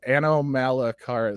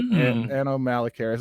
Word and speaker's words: Anomalocaris: I cannot pronounce it. Anomalocaris, so kind of like Anorith, but Anomalocaris.